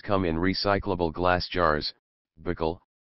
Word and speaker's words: Bocal: Bocal, pronounced boco, is French for jar, and they run from